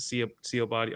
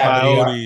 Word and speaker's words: Sabaody: Straw Hats reunited on the John, how you pronounce it? Sea Body Archaeology. I can never pronounce that shit for my Oh, the life. Sabaody. Sabody Archipelago. Yes. Sabaody.